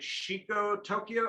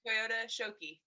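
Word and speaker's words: Toyota Shokki: Is it Shiko Tokyo or Toyota or? Yeah, Toyota Shoki.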